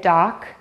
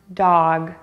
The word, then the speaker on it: dog: I hear people say dock or duck. Pay attention to the vowel ah and the ending sound g. The word should be pronounced dog.